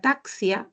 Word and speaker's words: taxi: como s xilófono pero la x en taxi suena como conexión Entonces yo cuando haga